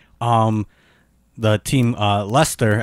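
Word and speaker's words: Leicester: um the team uh Lester actually is how they pronounce it in England oh yeah yeah um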